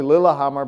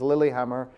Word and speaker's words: Lillehammer: It's actually Lillehammer, but he remembers the Olympics and he mispronounces it as Lilyhammer.